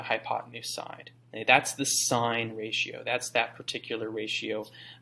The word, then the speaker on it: sine: So we abbreviate it S-I-N, and even when we see it like that, we just pronounce it sine, right?